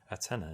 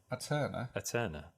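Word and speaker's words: Aeterna: Antenna, is that how do you pronounce that? Aterna. Aterna. A and E together.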